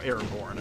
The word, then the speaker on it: Aragorn: probably the best thing about Aragon and stuff like that or Aragorn, I should let you pronounce it properly, is that like, man,